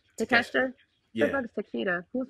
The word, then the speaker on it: Takeshita: Am I pronouncing his name right? Takeshita.